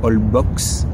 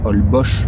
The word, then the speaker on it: Holbox: On a visité aussi une île qui s'appelle Holbox, en français Holbox, ça se prononce Holbox.